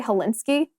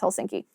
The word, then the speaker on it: Helsinki: that one for me I always want to say hilinski even though it's Helsinki but the University of